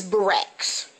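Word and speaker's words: Berax: the rest of america for the rest of america b-e-r-a-x is barack's it's all over america this is not france this is not new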